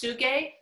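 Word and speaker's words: Tsuge: i think it's pr i think it's pronounced suge oh okay yeah man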